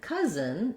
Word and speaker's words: cousin: And then cousin actually rhymes with dozen. It has the same vowel schwa and the same Z and N sounds, even though it's spelled differently for the vowel schwa.